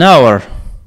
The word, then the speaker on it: hour: An hour. An hour. Ici, c'est un h muet.